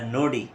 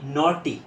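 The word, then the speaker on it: naughty: লিখেছি সেটা হলো কি নটি তো গ্রামের অনেক মহিলারা অনেক সময় বলে থাকে যে তুই একটা নডি আসলে এটা কিন্তু নডি হবে না এটা হবে নটি এন এ ইউজি এসটি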